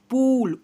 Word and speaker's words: pull: जैसे में FULL फूल, ऊ पढ़ रहे हैं, BULL बूल, PULL पूल, ऊ के रूप में उच्चारण कर रहे हैं ना, वैसा ही PUSH